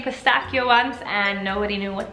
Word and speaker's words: pistachio: saying this word wrong it's actually pistachio because like I just mentioned CH n Italian is pronounced with a k' pistachio and this one